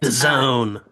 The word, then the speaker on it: DAZN: That I don't have a lot of information about that, except that The Zone. DAZN. Okay. It really seems like they're into acronyms. They're forcing us to pronounce a certain way.